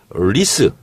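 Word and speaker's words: 历史: 그래서 리스 역사. 네. 역사를 리스라고 발음하거든요.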